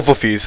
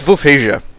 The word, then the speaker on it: Wolfheze: to call it um so I'll call wuffies that's that's a nice name uh but the proper pronunciation as you guys are probably aware of by now is vasia right so what are we